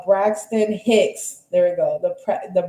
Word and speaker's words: Braxton Hicks: labor pains, which is the bricks hack. Uh, hold on, let me let me say it right. Hold on. Uh, Braxton Hicks.